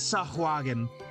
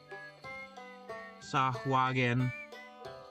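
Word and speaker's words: Sahuagin: Is that how you spell that? Or is it s ua swahogen? Hold on. Uh DND R is is Sagen. S A H U u A G I N Sagen.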